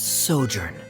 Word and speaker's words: sojourn: well is everything clear uh directors osimos pronounce this word let me see Ah that's sojourn it means to stay for a while this